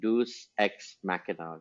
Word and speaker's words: Deus ex machina: Story telling में क्या कहते हैं, डिवाइस होती है जिसका अक्सर मजाक उड़ाया जाता है, which is pronounced as like Deus ex machina, just from the time of the Yes.